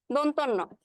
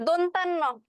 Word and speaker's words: দন্তন্য: ক্ষেত্রেও কিন্তু সেইম অবস্থা অনেকে বলে বসে দন্তান্য তাই না অনেকেই উচ্চারণ এটা দন্তন্য কিন্তু দন্তান্য কিন্তু না এটা হচ্ছে দন্তন্য দন্তন্য কেন দন্ত ধ্বনি সেখান থেকে আসছে এর জন্য হচ্ছে দন্তন্য এরপর লাস্ট যেটা আছে সেটা